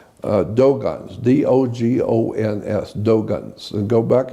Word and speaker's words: Dogon: It's spelled D-O-G-O-N. Dogon, not Dagon.